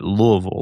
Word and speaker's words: Louisville: The correct way to say Louisville is the way you said it, Louisville, like you're swallowing your tongue. Right? Now, outside of this area, folks might say Louisville.